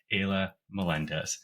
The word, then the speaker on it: Ayla Melendez: So, if you could please help me give a big warm welcome to my special guest, Aya Melendez. Is that correct, Aya? Am I pronouncing your name right?